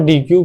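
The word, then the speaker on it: deque: बट उसके अलावा main हम कलेक्शन डॉट डी क्यू या फिर कलेक्शन डॉट डेक जो होता है अगर उसको सही से प्रोनाउंस करें उसको हम यूज़ करते हैं।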